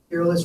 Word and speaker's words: Peerless: Peerless rhymes with fearless, right?